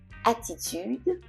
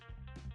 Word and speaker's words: attitude: you pronounce the attitude in English you can hear it smoother it's kind of softer it's not as pronounced as strong as it is in French attitude attitude attitude T is also